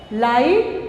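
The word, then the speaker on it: light: लाइट, तो ये GH silence word.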